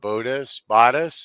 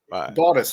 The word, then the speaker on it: Bottas: Bodis. Sorry, how do Bottas. you pronounce Bottas. Bodit? It's Bottas. It's Northern Italian.